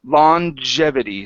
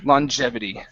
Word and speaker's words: longevity: be a pronunciation so it's longevity so it's a j sound longevity longevity uhhuh one more time